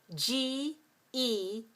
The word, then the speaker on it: genre: But in English, we don't use it at the beginning of any word except for some loan words. That is, words that we borrowed into the language from other languages. For example, G-E-N-R-E. Do you know this word? This word is genre. And this word is a word that we borrowed from, we borrowed this word from French. So it is a French word.